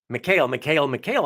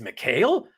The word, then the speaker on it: Mikhail: but since everybody everybody kept saying Michaela I was like oh it's Mikhail I stupidly just assumed everybody knew what they were talking about and then it turned out everybody was just mispronouncing it and he didn't bother